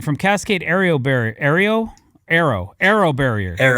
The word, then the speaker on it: Aero: It's pronounced it's it's pronounced arrow. Like aerospace.